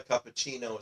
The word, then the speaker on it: cappuccino: That's why cappuccino is pronounced with a CH sound in it.